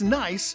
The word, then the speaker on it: Nice: It's nice in Nice. It's spelled N-I-C-E, but pronounced like the daughter of your brother or sister.